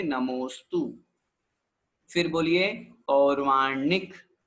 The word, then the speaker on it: नमोस्तु: की आवश्यकता नहीं होती बहुत से लोग नमोअस्तु बोलते हैं नमोअस्तु नहीं नमोस्तु जब संधि विच्छेद करेंगे तो फिर निकलेगा नाम है अस्तु ऐसा पूरा एक साथ बोलेंगे नमोस्तु फिर बोलिए और वासनिक